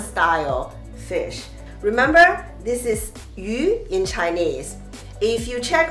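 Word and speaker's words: 鱼: The reason is that the pronunciation of Chinese character fish is yu, which is the same pronunciation as the character of surplus.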